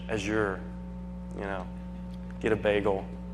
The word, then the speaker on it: Azure: by Microsoft and windows Azure or Azure however you want to pronounce it yeah I hate saying Azure it almost sounds dirty I use the French Azure you know get a